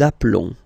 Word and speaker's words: appelons: Nous appelons. And then little link would be perfect, so let's pronounce the whole thing again. Nous nous appelons. Nous nous appelons. Okay, final S doesn't exist.